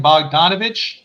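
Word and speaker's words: Bogdanović: Bogdanovich. I said that Bogdanovich.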